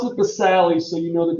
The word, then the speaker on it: basale: right i pronounce it the sally so you know that there's a silent e because spelling counts okay correct pronunciation is